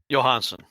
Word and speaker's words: Johansson: Johansson how do you say his last name Johansen yeah I was like I don't want to